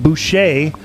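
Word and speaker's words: Busha: out of john it's it's b-u-s-h-a but they pronounce it boucher uh there and it's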